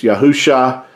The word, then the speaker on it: Yahusha: no letter J, and the Messiah's name could not have been pronounced as Jesus. It is a Hebrew. His name is Hebrew. It's Yahusha, our Mashiach, our Savior.